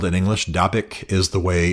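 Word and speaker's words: Dabiq: They have a very um high gloss, very contemporary magazine called Dabik. Um D- A B IQ is the way it's spelled in English. Dabic is the way it's uh pronounced in English.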